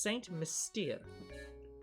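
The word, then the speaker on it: Saint Mystère: love how many people keep mispronouncing this town's name it's saint mystere i'm british dammit so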